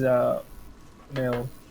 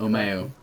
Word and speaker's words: Umeu: No, my name is Umeu. That's how you pronounce it. Umeu.